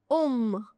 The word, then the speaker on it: homme: Homme, hiver. Hotel, homme, hiver. So, you start the pronunciation directly from the wall. You don't start it from the H. H is never pronounced. It is always silent.